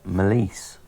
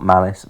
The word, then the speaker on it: Melisse: uh who else obadiah melisse not malice malice and that's part of his kind of joke is he sort of corrects people about the pronunciation of his name he's here i've given